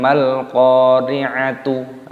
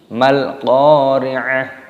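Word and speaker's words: ما القارعة: Maka cara membacanya bukan mal qari'atu ataupun mal qari'at, tapi sama dengan hal yang ini mal qari'ah.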